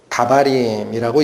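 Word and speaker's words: דברים: 계명이라는 단어가 역시 히브리어로는 다바림이라고 읽힙니다. 그런데 이건 복수예요. 단수로는 다바르라고 읽힙니다.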